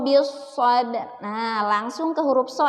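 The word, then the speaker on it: بالصبر: Tidak dibaca bil sobri. Ya, tidak dibaca watawasau bil sobri. Tidak seperti itu. Tapi dibacanya watawasau bis sabr.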